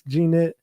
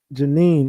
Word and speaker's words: Janine: Thank you for the uh one piece, Ganette. G Janine, my bad. Janine Hopkins, I butchered your name.